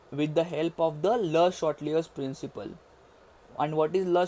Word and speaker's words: Le Chatelier's: Now guys, don't pronounce it as Le Chatelier's. It is a French name, that is Le Chatelier's.